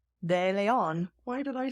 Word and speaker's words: DeLeon: I know I say as someone who is Hispanic de Leon why did I say